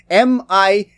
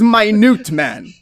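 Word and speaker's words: Minuteman: there's this character um the way his name is spelled is m-i-n-u-t-e-m-a-n so you read it and you see minute man right until you realize he has the power to shrink and his name is my newt man and everybody gets it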